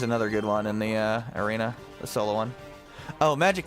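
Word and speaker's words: Erina: It's Arena. I know. I know. It's a pun. It was unintentional. It's spelled E-R-I-N-A.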